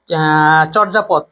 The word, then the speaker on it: চর্যাপদ: তারপরে চর্যাপদ, এটা কেউ পারছো? এটা পারবা? হ্যাঁ, চর্যাপদ। এই তো শব্দটা হচ্ছে চর্যা। এইটাকে অনেকে কঠিন সহজ মানে মনে করে চর্যাপদ, যেটা লেখা চর্যা লেখা, কিন্তু শব্দটা হবে চোর যা পদ।